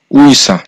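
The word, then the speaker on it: 의사: যেমন উইসা এখানে শব্দটা হচ্ছে উইসা। এখানে প্রথমেই এই শব্দটা বসেছে যার কারণে এই শব্দটা সঠিক উচ্চারণ হবে উইসা যার অর্থ হচ্ছে ডাক্তার।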